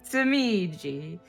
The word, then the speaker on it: Tamiji: Say it like will- it with Italian inflection. Tamiji.